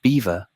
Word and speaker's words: Belvoir: The name Belvoir, pronounced beaver, was given to the